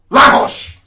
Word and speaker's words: Lagos: Lahos. Lahos, that's the correct pronunciation.